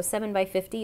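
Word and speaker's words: 7×50: X five zero so seven by fifty is how they're pronounced but the seven the X goes with the seven so it means you're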